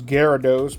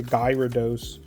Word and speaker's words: Gyarados: Obviously, I know it's gyarados, but some people say gyos pronouncing the y.